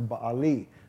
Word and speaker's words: Baal: Baal, and we know that name, Baal, if you're from America.